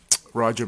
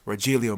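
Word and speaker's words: Rogelio: de Gail and um Roger Medina or Rajillio Medina, excuse me, if you want to pronounce it the the Hispanic Hispanic way.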